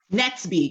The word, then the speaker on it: Netsby: Netsby. Netsby. Yes, I have that right. Okay. So Netsby is 12 years old as well? He's 1 year younger, so he's 11. He's 11 years old. And Netsby is this little boy who lives in the